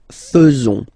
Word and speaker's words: faisons: So it's quite strange because French people tend to pronounce faisons. Okay? So like here, this AE is not pronounced like normally we should pronounce it like E, but then like okay? Nous faisons. Nous faisons.